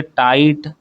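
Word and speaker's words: tight: यहां पर आपको कौन से लेटर साइलेंट मिल रहे हैं? लाइट बोल कर देखिए। लाइट। ठीक है? टाइट टॉट। तो यहां पर आपको जी और एच जो है वो साइलेंट लेटर्स की तरह सुनाई दे रहे हैं।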